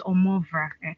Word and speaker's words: Omovrah: I know sometimes some people might find it hard to pronounce. It's Omovrah.